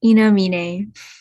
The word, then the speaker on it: Inaudi: economic development and nikki how do i pronounce your last name it's pronounced inaudi i'll get that i